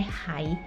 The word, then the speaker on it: 还: Nah, di sini bacanya Huan. Biasanya kita membacakan huruf ini sebagai hai, artinya masih ya. Nah, kemudian kita di sini bacanya menjadi Huan, artinya mengembalikan.